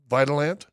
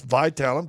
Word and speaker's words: Vitalant: And so, this month right now, if you Vitalant, what's it Is it going to say it looks like it's pronounced Vitalant? At least if you're from Kansas, but it's Vitalant, v i t a l a n t.